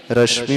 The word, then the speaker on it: रश्मि: रश्मि में श जो है तालव्य है। इसमें बड़े ध्यान रखने की